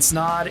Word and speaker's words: Snaadt: My name is Snod. It rhymes with odd and you're listening and watching the Rhymes with Odd podcast.